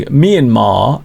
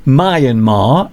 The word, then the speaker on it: Myanmar: I once got into trouble for pronouncing Myanmar as Myanmar. I got a lot of people saying, "Mr. Duncan, you've got it wrong. It's not Myanmar, it's Myanmar."